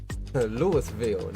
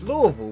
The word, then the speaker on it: Louisville: get ready to uh lewisville not louisville it's louisville bro it's louisville um so yeah we'll